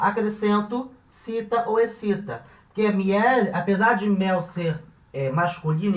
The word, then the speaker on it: miel: Miel é uma palavra que é de uma sílaba, miel, embora a gente tenha o ímpeto de separar, né? Miel, em espanhol isso não vai acontecer, vai ler como se fosse uma coisa só, miel, então uma sílaba só, e termina em consoante,